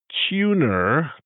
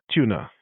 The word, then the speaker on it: Tuner: There's a film that is out and it is called Tuner, t u n e r, but the way I pronounce it is tuna.